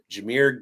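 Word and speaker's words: Jahmyr: This is putting him into a small uh Devon Chan, Jir Gibbs, I said it right that time.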